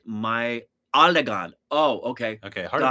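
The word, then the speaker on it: Meiyazhagan: It's pronounced La in Tamil. Maizagan is pronounced My Alagan.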